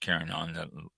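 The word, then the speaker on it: Carignan: i o n a l and next one kinon c a r i g n a n yes it is pronounced kinon and if it's not pronounced it's a French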